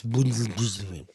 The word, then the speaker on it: Buttigieg: You pronounce his name wrong. It's Buttigieg. You know, I tried enlisting in the Marine Corps after 9/11.